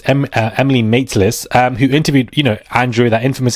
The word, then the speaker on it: Emily Maitlis: Emily Mattis. I keep calling her Emily Mattis. Her name is pronounced Emily Maitlis, who interviewed, Andrew, that infamous interview, saying that he heard there was a serious meeting.